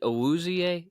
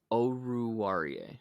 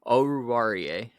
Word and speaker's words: Oruwariye: Is it Owuzie? Is that how you say his name? Oruwariye. Okay. I'll get it right next time. Oruwariye.